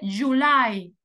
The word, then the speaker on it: July: primera vocal chicos june ahora en inglés decimos el siguiente July y en español decimos Julio pero en inglés decimos July la sílaba tónica es la segunda no decimos Juli No ni tampoco July no decimos July July okay ahora en